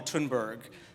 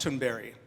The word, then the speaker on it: Thunberg: Now, Greta's last name, we call her Thunberg, but it's actually pronounced Thunberry.